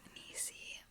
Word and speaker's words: Nicie: It just rhymes with greasy and she's always been greasy, so.